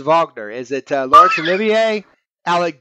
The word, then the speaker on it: Wagner: film about the composer Vagner who is spelled Wagner but it's vogner is it Lawrence Olivier